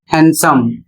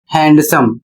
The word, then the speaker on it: handsome: अगला शब्द है HANDSOME और इसका सही उच्चारण होता है हैंडसम, जबकि इसको आप पढ़ते हैं हैंडसम।